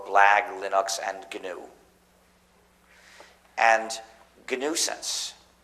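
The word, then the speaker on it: gNewSense: And GNUsense, which is spelled GNUsense, which is also a joke because my title as the head of the GNU project is the Chief GNUsense, spelled G followed by nuisance.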